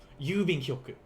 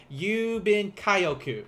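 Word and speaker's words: 郵便局: Yubin kyoku. Yubin kyoku. Be careful with this kyo. This is one syllable. One syllable. It's not yubin kayoku. No. Yubin kyo. That is one syllable.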